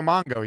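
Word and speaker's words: Mpemba: It's hard to pronounce. Francisco Mongo, I think. Francisco Mongo.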